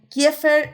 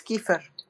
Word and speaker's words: Kiefer: Creo que es Kiefer. ¿Kiefer? Es Keith Sutherland. Kiefer Sutherland, sí. Exactamente, por eso yo paso pronunciaciones de otras personas.